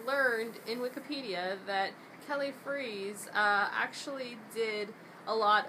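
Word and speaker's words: Freas: World uh Kelly freeze I learned his last name is pronounced freeze not fras like like we originally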